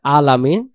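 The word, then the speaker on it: العالمين: অক্ষরের উচ্চারণে রূপান্তরিত হবে আইন অক্ষরের উচ্চারণের স্থান হলো গলা চেপে একটু পড়তে হবে আলামিন প্রথম আয়াতটা আমরা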